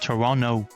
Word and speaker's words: Toronto: All the best to I was originally told all the best to I should pronounce it Toronto. I should not pronounce that. Yeah, not to. Okay. Yeah, all the best to Toronto.